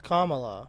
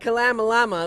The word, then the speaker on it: Kamala: Kamala is what they Yes, say. yeah. It's Kamala. Yeah, Kamala, yeah. Yeah. Kamala Harris. But they're like Kalamalama.